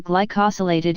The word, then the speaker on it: glycosylated: blood sugar test the glycosylated hemoglobin pronounced g ly koh sill a tid hemoglobin and also known as